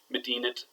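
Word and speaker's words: مدينة: So we say Medinat, New York. You hear that nice T there, Medinat, New York. But Ism el Medina, we don't say the T. Medinat, New York, Ism el Medina.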